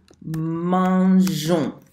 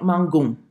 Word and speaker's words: mangeons: Nous mangeons. So you see this E that's right here. Again, it's for pronunciation. If it's not there, it sounds like mangon, and that's not nice.